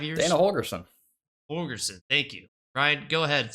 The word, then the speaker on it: Holgorsen: Holgorsen. Thank you, Ryan. Go ahead. Since you know how to pronounce his name, I'll let you start it off.